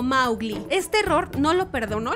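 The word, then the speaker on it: Mowgli: ningún idioma número 53 mowly está mal anunciado en realidad kipling lo pronunciaba como maugli este error no lo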